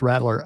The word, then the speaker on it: Rattler: It's Rattler.